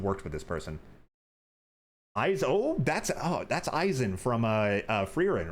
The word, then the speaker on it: Eisen: There's an Eisen other than the one from Bleach. Well, this one's pronounced E-I-S-E-N. Like, it's more of a European thing than a Japanese spelling.